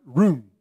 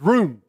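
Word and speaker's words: רוֹמֵם: at that word extol in Hebrew it is pronounced room I'm a southern guy it might be pronounced better than that but it's room it's how it sounds in Hebrew that means to lift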